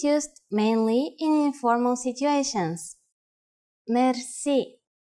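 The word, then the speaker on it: мерси: which word that is Mery Mery Mery is a long word from French but it is pronounced with a typical Bulgarian hard r r it is used mainly in informal situations Mery how do you answer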